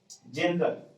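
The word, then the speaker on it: general: जनरल, जब के आगे जी के आगे ई है इसलिए जनरल, जनरल मीन्स सामान्य।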